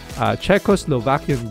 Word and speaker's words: Czechoslovakian: Czechos, see, I didn't even pronounce it right. Czechoslovakian girl, there you go, whose village had received assistance from UNICEF following World War II.